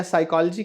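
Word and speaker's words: psychology: pneumatic कहना है या साइकोलॉजी कहना है तो उसमें पी शब्द जो अल्फाबेट है वह साइलेंट है जो व्यक्ति नहीं जानता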